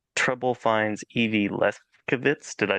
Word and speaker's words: Lefkowitz: called Trouble Finds Evie Lefkowitz. Did I say that name correctly? Is that Lefkowitz, but you can put nice? the V pronunciation in there if you want to.